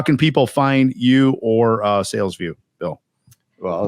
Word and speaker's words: Salesvue: By the way, Salesvue is spelled funny-ish, right? Well, it's SALES. V is in Victor, U is an umbrella, E is an elephant. VUE, not VIEW.